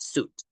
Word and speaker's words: suit: can you see it suit we refer to the dress to the one that we use the formal dress in this case we don't pronounce the I right just suit and in the case of